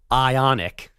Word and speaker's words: Ioniq: Ionic.